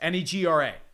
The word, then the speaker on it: Negra: Negra, like black.